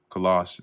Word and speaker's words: Colossae: So it says here, Philemon lived at Colossae, or Colossus as it's otherwise pronounced, and was probably a convert of Paul and member of the Colossian church.